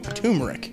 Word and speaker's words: turmeric: Turmeric. Turmeric? But it's got an R in there. T-U-R. There's an R in there. Turmeric.